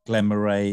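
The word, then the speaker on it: Glen Moray: Glenn Murray has gone Glenn Murray is the now go-to pronunciation unfortunately painful getting wrong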